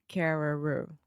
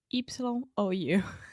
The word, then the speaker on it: Carreyrou: It looks like Carreira, but it's Carreyrou. Yeah, I'm not exactly sure how you pronounce the name. Carreyrou.